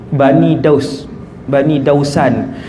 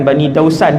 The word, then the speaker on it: Bani Daus: ni, dia daripada Daus, Bani Dausan. Bukan Bani Dausan, dia Bani Daus. Bani Daus. Siapa yang ada buku tu, cara baca tu Bani Daus.